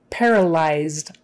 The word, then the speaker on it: paralyzed: reliever or pain reliever paralyzed eyes eyes that wises like eyes paralyzed parallel lies not paralyzed paralyzed paralyzed eyes paralyzed